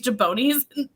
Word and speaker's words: jabroni: what happened with these jabronis? Jabronis. Like, what does that mean? I've watched a lot of wrestling. It's jabroni. Why is he saying it wrong?